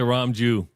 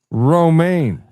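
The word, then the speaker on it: Romijn: Isn't it Rebecca Ramju Stamos? Did I say it wrong? Yeah. What is it? Roma. No, it's Rebecca Roma Stamos. Okay. Roma lemon juice.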